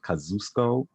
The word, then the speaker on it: Kosciuszko: and like by cuss i know there's like different pronunciations i call it for the longest time when i was you know called the kosciuszko but apparently the train station like the the voice is called it kazusko i still never changed